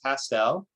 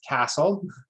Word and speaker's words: Castel: You've heard it, so I'll tell you my name is Castel. It rhymes with pastel. It often gets confused with castle.